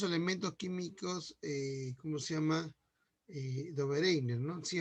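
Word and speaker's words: Döbereiner: Se habla claramente de el famoso, bueno, nosotros nos pronunciamos como Dobereiner, ¿no? ¿Sí? La pronunciación correcta es, como acá es diálisis, ¿no? Es Dobereiner, ¿no?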